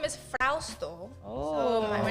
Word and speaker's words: Frausto: grade school, they would always mispronounce it like Frosto. Oh, And it's like, it's Frausto, but Frosty is easier, then go ahead.